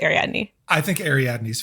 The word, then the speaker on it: Ariadne: with all porro pronunciations I listen to the audio books and so they say adne but I also am very aware that sometimes the Brits will pronounce things different than we do so I'm going to go with ar Adney I think Ari Adney